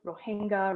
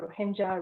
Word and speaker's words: Rohingya: Finally, the name Rohingya, in all of its pronunciations across the world, Rohingya, Rohingya, Rohingya, must be recognized.